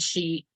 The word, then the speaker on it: sidhe: our our studio because the Gaelic spelling is s-i-d-h-e so when people are seeing it they they think that Sid he or they have no idea so it is pronounced that she shed okay see there